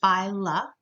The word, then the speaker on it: phyla: singular if you want to say many of those you say file up so in your lab material you might see the word phyla it just means the plural of phylum and likewise general is